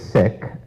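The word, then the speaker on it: Sikh: sick view of Life sick s-i-k-h not I'm a physician not sick and I get that confused a lot but the proper pronunciation is is sick the sick way of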